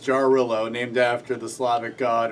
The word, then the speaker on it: Jarrylo: say about okay so jillo it it says pronounced jarillo named after the Slavic